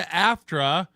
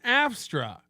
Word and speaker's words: AFTRA: What's the big productions that got him into AFTRA, or as he pronounces it again, AFSTRA?